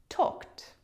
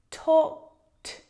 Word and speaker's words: talked: Talked. And to pronounce the past tense form of a regular verb, here we have talk. We need to add the t sound to the end. Talked, talked, talked.